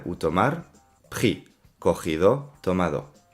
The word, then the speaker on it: pris: participe passé prix a pris compris et mis attention on ne prononce jamais le s les participes passés en